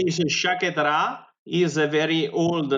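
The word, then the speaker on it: Sciacchetrà: How do you Shakatra? Is that right? Yeah. Shakatra.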